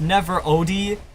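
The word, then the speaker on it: NeverOdd: it's pronounced Never Odie, but it says Never Odd, but yeah, it's Never Odie.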